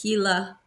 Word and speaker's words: Gila: But Yeah, Gila, it's spelled, it looks like Gila, Gila, but the G is actually H in Spanish. So it's Gila.